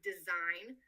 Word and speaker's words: design: So, take the word design that when spelled out in English has a silent G. In Arabic speaker may have trouble pronouncing this word as they do not understand the concept of silent letters and may pronounce the G.